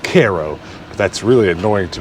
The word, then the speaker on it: Cairo: will get annoyed to tell you that it's pronounced Cairo but that's really annoying to me because it's literally next door to a town called Thebes so we're gonna call it Cairo right but half of its abandoned every other